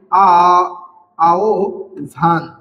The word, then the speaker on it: আহবান: এখানে আহবান বর্ণের উচ্চার আহবানের হ এর উচ্চারণ হবে ও ভ এর মত ও এবং ভ এর মত আর তার কারণে এই বর্ণটার উচ্চারণ হবে আ ভান আহ ভান ঠিক আছে তেমনি তারপরে